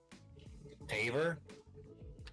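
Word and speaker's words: Tavor: Taver. Ta. It's like d a and then bore.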